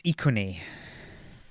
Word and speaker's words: Iconi: Which is always a safe thing to do with pronunciation. Yes. Iconi? So it's Iconi.